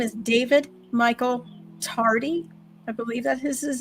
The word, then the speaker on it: Tardy: So please, please everybody look up David Michael Tardy. It's exactly how it's spelled. T A R D Y like your tardy for school, right?